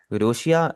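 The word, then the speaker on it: ロシア: रोशिया रशिया को कहते हैं।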